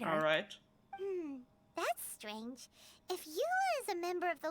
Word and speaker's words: Eula: Okay, I'm glad that in the game they actually pronounce her name as Eula, because I've seen some tweets about, oh, she's a German character, so she's gotta be pronounced German, and I don't think